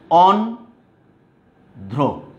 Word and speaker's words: অন্ধ্র: তুমি দেখো, অন্ধ্র, এখানে দ্বিতীয় উচ্চারণ করার কোনো সুযোগ নাই।